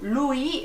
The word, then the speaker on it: Louis: Nos vamos a encontrar con un personaje llamado Louis, se escribe Louis, pero como es francés, ¿verdad?